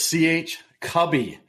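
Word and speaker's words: CH Cubbie: all wrong all right it is CH cubby see you b b i e so Josh can't get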